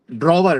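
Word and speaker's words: drawer: सा स्टाइल बोला आपने ड्रवर ड्रवर ड्रवर होता है ना वो क्या होता है ओपनिंग स्टाइल अरे ड्रॉवर होता है और सर डब्ल्यू साइलेंट है सर।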